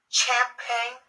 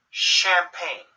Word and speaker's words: champagne: memory on your computer champagne no champagne champagne it sounds like an SH so words that have